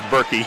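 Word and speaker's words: Boerke: keegan boric from peoria is that boring oh no it's berkey yep well i'll tell you it's spelled b-o-e-r-k-e that's pork for me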